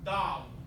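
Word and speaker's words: دال: The name of that letter is Dal. Everyone? Dal. Okay? Dal. Alright? And it makes approximately, not precisely, but approximately the D as in day in English.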